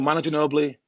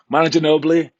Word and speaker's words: Manu Ginóbili: than the situation all right today we're doing monitor nobly why don't you know I can't say my name should know blue manager nobley there you go Manu ginóbili Rondo Hakeem and then the mono layup and